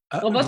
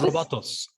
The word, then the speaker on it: Bottts: Robots? Robotos.